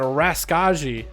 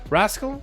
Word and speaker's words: Raska: here, and we got Raskaji. Rascal? Almost want to call you Rascal, but Raska. We'll call you Raska. The J is silent. J's for Jesus. Jesus, man, it's Raska.